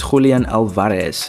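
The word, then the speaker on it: Julián Álvarez: Moving on to the next striker we have on the list, and that is Julian Alvarez. Now, we have to pronounce it like that because he is from Argentina.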